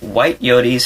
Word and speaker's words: Whyte Yoté: It's like Whyte Yote. It's just two quick accented syllables.